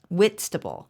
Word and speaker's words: Whitstable: It's Whitstable.